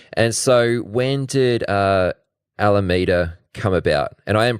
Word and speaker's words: Alameda: And so when did uh Alameda come about? And I am pronouncing that right, yeah? Yep. Yep, Alameda.